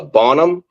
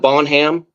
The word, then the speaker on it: Bonham: it's east of a town called uh Bonham not bonam uh Jeff uh but Bon